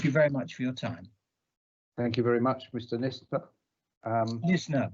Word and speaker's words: Nisner: Nisner, by the way, N-I-S-N-E-R. Just pretend the S is a Z. It's easy to pronounce then. Nisner.